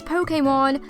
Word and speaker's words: Pokémon: we love so much Pokémon yes the correct pronunciation is Pokémon but we see a lot of others such